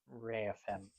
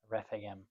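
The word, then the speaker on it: Rephaim: of Philistines was encamped in the valley of Reapen. Refam. Yeah, pronounce it right if you're going to read it.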